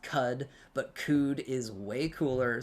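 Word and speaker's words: Qud: one in chat if you've played caves of code I know that it's pronounced cud but cud is way cooler so I'm calling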